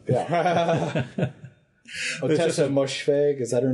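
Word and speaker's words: Ottessa Moshfegh: Otessa Moshfegh. Is that her name? Otessa Moshfegh? Yeah, I've heard it pronounced, and that sounds close.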